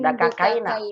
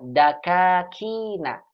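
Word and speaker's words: دكاكين: Ulaika tujarul aghniya'u kharaju min kaina Bukan min dakakaina. Bukan dakakaina. Ibu, bukan dakakaina. Dakakina.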